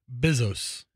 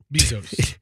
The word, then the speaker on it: Bezos: bizos the human weer you've said his name three times and you've mispronounced it every time I'm not exactly sure how to say it after all Bezos remember like ba Tampa Bezos Jeff Bezos so it's Jeff bezos's